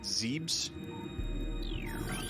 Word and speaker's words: Zebes: At least I'm pretty sure it's pronounced Zebes. I didn't notice that. I didn't know that it moved up like that. I have heard some people pronounce it Zeebs.